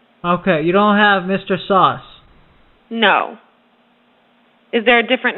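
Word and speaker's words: Sause: Yes, it's pronounced sauce.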